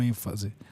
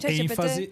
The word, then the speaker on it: ênfase: em parox com como ênfase tá errado tá errado viu galera enfase não é paroxitono né é proparoxitono né Ah e a